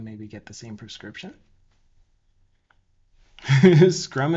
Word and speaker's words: Scrum: Scrum is pronounced scrum. Wouldn't there be two U's in it though? Scrum. Unless you say it all country, it's screw 'em.